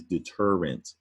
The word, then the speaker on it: deterrent: detergent up top is deterrent so get a good look at the difference now up top deter rent three syllable word stress on the middle syllable term envelopes deter gent